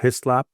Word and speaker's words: Hyslop: Um with that I'm going to say thank you both uh Roslin and Blair Hislap. Am I pronouncing that correctly by the way?